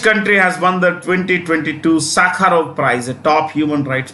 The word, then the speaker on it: Sakharov: Sakharov was a Russian, Soviet, human rights activist. He was jailed. He was exiled. Andrei Sakharov. Yeah. In fact, the V here is pronounced with an F.